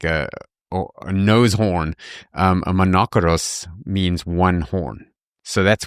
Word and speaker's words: monokeros: Old Greek translation of the Old Testament, as monokeres. Well, actually, let me pronounce it right and see what English word you think people would take from this. Monokeros.